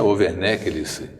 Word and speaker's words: Overney: O Overney, que é Overneck, é a pronúncia correta.